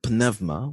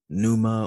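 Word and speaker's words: πνεύμα: on the Greek word panevma which means Spirit now you may hear others pronounce that like Numa or panuma or something like that but uh the proper pronunciation panevma and in the dative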